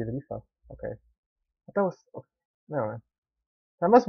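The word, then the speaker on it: Leafa: I said Lifia, right? It should be Lifa.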